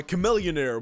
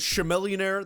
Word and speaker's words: Chamillionaire: songs like Raiden by Chamillionaire which I really want to say as sure millionaire that just looks hurt be pronounced to me but it's not shoulder lean by young